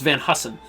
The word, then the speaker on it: Van Heusen: What was this, Van Heusen? This is. It's pronounced Van Hussen.